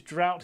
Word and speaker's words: drought: about drought is that the pronunciation and the spelling are quite different so we spell it d r o u g HT but it's pronounced drought